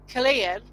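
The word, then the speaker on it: Culzean: And I just put a tent about Killeen, what is spelt Colzean. Kilseen. Kilseen. Yeah, Killeen and Castle.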